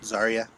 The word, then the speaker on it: Zarya: favorite character was probably um the main girl zarya is that how you say it zarya yeah yeah I really liked her because she